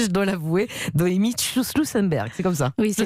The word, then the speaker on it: Schussenberg: Un peu difficile votre nom à prononcer, je dois l'avouer. Noémie Schussenberg, c'est comme ça.